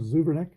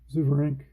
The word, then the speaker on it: Zuverink: Next 3 Reds hitters are right-handers, so Paul Richards is going to bring in George Zuvernick, or Zuvernick. No, Zuverink. Zuverink, if that's spelled right. Looks like Zuverink.